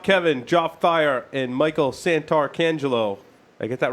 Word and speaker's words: Santarcangelo: Our fellow hosts via Skype, Not Kevin, Joff Thayer, and Michael Santarcangelo.